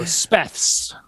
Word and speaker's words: SPETHZ: So Speths. Yeah. Terrible decision. I mean, there's a band called the Butthole Surfers. So That's true. I think Speths is still above that.